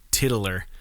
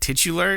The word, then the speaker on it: titular: this word titular titular my brain always wants to say like tiddler and i know that's not right titular is that correct yeah